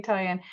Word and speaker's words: Toyin: I hope I pronounced your name correctly, Toyin.